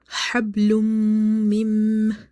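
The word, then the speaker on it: حَبْلٌ مِنْ: So again, there is a rule of the meme where we do the nasalization in the meme sound. Okay, so it will be hablum mim, hablum mim, masad.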